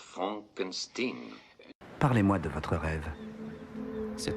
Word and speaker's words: Frankenstein: Docteur Frankenstein, je vous demande pardon. Mon nom, monsieur, se prononce Frankenstein.